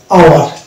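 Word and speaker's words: hour: তারপরে চলে যাবো আমরা এইচ ও, অনেক শব্দ আমরা পাবো যেখানে এইচ ও যদি পাশাপাশি থাকে তাহলে কিন্তু সেখানে এইচ সাইলেন্ট হয়ে যায়। যেমন আওয়ার, এটা একটা শব্দ রয়েছে আওয়ার, তারপর হচ্ছে ওয়ানেস্ট,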